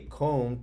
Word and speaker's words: comb: Use a comb to brush the fuzzy lamb. So, oh look, two words that have the silent B. Comb, lamb. Let's read it together.